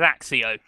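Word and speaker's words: Accio: believe I fireb AIO they pronounce it AO don't they yeah but that's cuz the film's wrong Steven fry is correct and he says axio okay but yeah um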